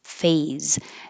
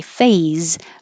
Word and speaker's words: phase: The apprenticeship phase. And when you say phase, make sure you use a Z. If not, it'll sound like face. So, phase. The apprenticeship phase.